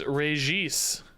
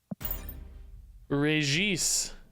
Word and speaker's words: Regis: is a DC stream my name is pronounced rejis better get it right Regis do you say Kazar